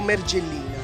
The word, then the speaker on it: Mergellina: antichi poetici erano descritto mergellina. È un errore di accento, ma si dice mergellina, pure io dico mergellina, napoletano, ma penso che sia un errore d'accento.